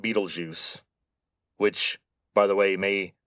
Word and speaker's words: Betelgeuse: By the way, that is how you say that name, Betelgeuse. Now, the spelling is German, but the name comes from Arabic, and under the first